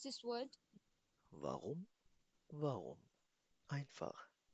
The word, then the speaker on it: warum: Warum? Warum? Einfach. इस warum में जो R है, spricht man R mit Rein aus, ना? इस R को हमेशा Rein से प्रोनाउंस किया जाएगा.